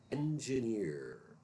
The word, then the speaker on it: engineer: This word is pronounced engineer, engineer. And that is also the J sound, as in jazz.